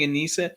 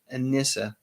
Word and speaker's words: Anissa: want to say nisa i think i started the video by saying anissa and then the correct pronunciation is anissa and i think i rectified